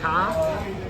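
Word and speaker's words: Kara: k a r a a lot of people say caras it's the the first day in silent or no way the second day is silent I don't even know myself but yeah it's car car my name is and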